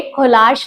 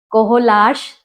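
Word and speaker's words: Kohlrausch: है तो उसके लिए कोलाश लो आता है कोलाश लो जर्मन वर्ड है जैसे प्रोनाउंस करना चाहो कर कोलाश बोलते स्पेलिंग अलग है उसकी राऊ सच मैंने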